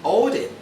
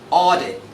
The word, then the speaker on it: audit: Don't say audit. It mustn't be. It should be audit.